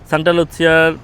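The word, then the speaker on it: Santa Lucia: মানে যে সেন্টার বলে সান্টা লুচসিয়া বলে ইতালিয়ান উচ্চারণে সান্তা লুচ্ছিয়ার পাশের যেই শহর সাথে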